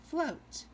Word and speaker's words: float: The O is long, the A is silent. O says its name, A says nothing. And then we have the T sound. Full, O, T, full, O, T, float, like you're floating in the water.